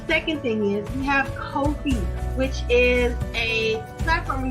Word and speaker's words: Ko-fi: However, Ko-fi is actually how you pronounce that.